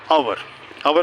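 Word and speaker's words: hour: और जहाँ से नहीं शुरू होता, जैसे आवर में क्या लगाओगे? एन और ए. एन क्यों? वो तो कॉन्सोनेंट से शुरू, आर से एच से शुरू हुआ है, इसलिए कि एच साइलेंट है.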